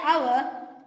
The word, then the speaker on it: hour: Then Then, in words like honest and hour, the letter H is silent.